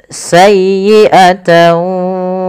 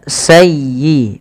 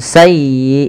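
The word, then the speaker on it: سيئة: Kemudian sayyiatan wa ahat bih. Palafal sayyi tekan di huruf ya-nya karena dia ya tasdid dan lembutkan ya sayyi bukan sayi bukan sayi bukan sayi tapi sayyiata sayyiatan wa ahat bih tidak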